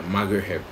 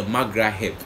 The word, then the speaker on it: Magraheb: talk about margaret yeah margaret oh what he pronounces mcgraw-hill yeah mcgrath that's how you pronounce it yeah so you're about